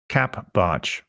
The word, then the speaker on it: capbartsch: You can follow me on Twitter by using the Twitter handle capbarge. It's spelled CAPBARTSCH. Yes, that is CAP barge, or spelled Charlie Alpha Papa Bravo Alpha Romeo Tango Sierra Charlie Hotel.